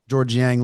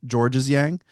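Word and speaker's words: Georges Niang: I called him Georges Yang. Georges. Yeah, I pronounced the S.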